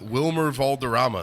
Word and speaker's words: Wilmer Valderrama: Wilmer Valderrama. There you Okay, go. got it. Third try. I Anyways. think it's Vilmer.